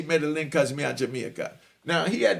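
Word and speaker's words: Medellín: is what he was they pronounced it Medellin but I just say Medellin cosmia Jamaica now he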